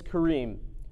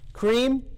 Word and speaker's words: Karim: how to say my name my name is Kareem most people hear this when I say that cream is not my name lots of people like